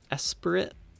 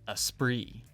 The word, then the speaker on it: Esprit: or something like that s spirit hey Charlie from the future here apparently it's a French word and it's pronounced Esprit they look close but